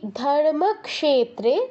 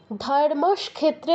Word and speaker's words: ধর্মক্ষেত্রে: শ্লোকটা কি আছে দেখুন আমি অনেককে দেখেছি এই ধর্মক্ষেত্রে এটাকে উচ্চারণ করছে ধর্মক্ষেত্রে স টা আগে নিয়ে আসে কেন অনেককে দেখেছি আমি স আগে আনা যাবে না দেখুন যেই ভুলগুলো হতে